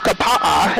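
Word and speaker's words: Kapaʻa: of them are vowels each letter is pronounced individually so if you go up to the town of kapa'a it's about k-a-p-a-a so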